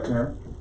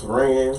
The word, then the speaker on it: Taryn: Say good morning, everybody, Taryn. It's Teran. Oh, I'm sorry, Teran. Teran. Most people mispronounce my name, so I don't take it personally.